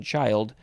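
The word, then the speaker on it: childe: well no it's the same pronunciation child uh but they added an e at the end uh this is archaic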